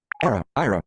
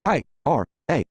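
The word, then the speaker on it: Aira: A, comma, space, I-R-A. This means I'm asking VoiceOver to pronounce the word IRA, spelled A-I-R-A, as IRA, I-R-A.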